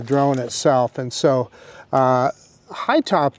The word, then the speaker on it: Hytobp: so uh high top it's an interesting way they spell their name it's h y t o b p so I don't know how you pronounce that b in there I'm just going to call it high top uh but anyway this